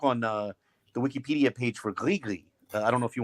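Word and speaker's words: gris-gris: I think it's separate, and it's pronounced Grigri. I think the S is silent, if I'm not mistaken, because it's from Francophone Africa, even though they're using Arabic.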